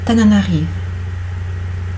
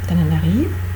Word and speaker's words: Tananarive: Il part à Tananarive. Il sera notre correspondant spécial. Pareil, Tananarive, E non prononcé, parce que je suis en fin, il sera notre correspondant spécial.